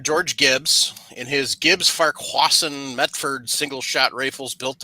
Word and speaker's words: Farquharson: Farquharson, yes.